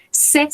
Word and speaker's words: ses: Son copain quiere decir su compañero, sa copine, su compañera, ses sœurs, sus hermanas. Recordemos que acá en C no pronunciamos la S, no pronunciamos la S final.